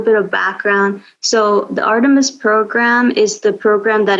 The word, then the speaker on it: Artemis: our 10 minutes program i'm even afraid to pronounce it wrong yeah so artemis um is the name of it um and